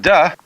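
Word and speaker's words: 德: And the book is called the Tao Te Ching, because again there's no apostrophe after the T, so it's pronounced de, and Jing, there is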